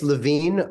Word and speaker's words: LaVine: dark Man X Jonah Levine and DJ Superior so is it Levine or LaVine I don't want to pronounce that wrong it's LaVine but you can also